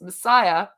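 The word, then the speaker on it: MSIA: John Roger Hinkins, founder of the Church of the Movement of Spiritual Inner Awareness, MSA, pronounced Messiah, has gotten a lot of bad press lately.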